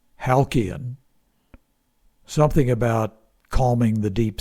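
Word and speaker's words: Halcyon: It may have been pronounced Halian.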